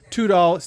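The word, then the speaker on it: Tudahl: to amazon search for dwayne tudol just like it's spelled right here d-u-a-n-e two dolls t-u-d-a uh just look for his books all of his prince books are fantastic the traditional spelling of two dolls yes right i i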